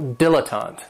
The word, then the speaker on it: dilettante: And this word has three syllables, and there's kind of like a stress on that first and last syllable, dilettante.